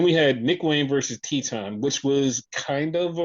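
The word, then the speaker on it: Titán: What, people don't pronounce it Teton? Some people might call him Titan, which Oh, okay, is the incorrect pronunciation.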